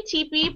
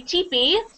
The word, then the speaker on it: Tippi: ever heard of her Tepe we say teepe but it's spell sped like this I wrote it's spelled like Tippy but you say Tippi Tippy de gray and